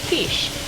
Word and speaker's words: quiche: this for dinner and it's called quiche it's actually spelled with a q so you might want to look up how case is spelled because it kind of sounds um different you might think it were spelled with a c or k but it's actually a q so this is